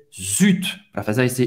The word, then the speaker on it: zut: Zut, você vai pronunciar o T, Z ou T em francês, zut.